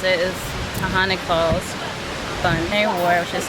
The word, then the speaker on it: Taughannock: macro nutrients so now i know how to pronounce it is tahani falls funny war which is 1775 to 7670